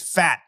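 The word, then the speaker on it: Phat: His name is Fat. P-H-A-T, Fat Watts. Fat Watts.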